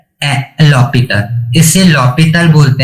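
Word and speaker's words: L'Hôpital: इसे लॉपिटल बोलते हैं, प्रोनाउंसिएशन इसका सही लॉपिटल होता है, लेकिन कुछ लोग किसे बोलते हैं एल हॉस्पिटल, तो प्रोनाउंसिएशन पे मत जाना है ना, मैंने बता दिया। इसका जो करेक्ट प्रोनाउंसिएशन होता है वो होता है लॉपिटल, एच इसमें क्या होता है, तो साइलेंट होता है, और कुछ लोग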